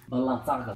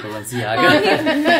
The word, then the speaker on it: Balenciaga: Balanzaga. That's how you say it because I never really want to say it. No, it's Balenciaga.